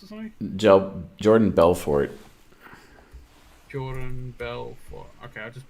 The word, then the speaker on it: Jordan Belfort: Jordan Belfast or something? Jordan Belfort.